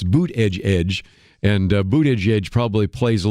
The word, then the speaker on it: Buttigieg: And one of those, she said, is Pete Buttigieg used to say that you pronounced his name Buttigieg. But when he's now become national, he's changed it. And now his crowds chant boot edge edge, boot edge edge.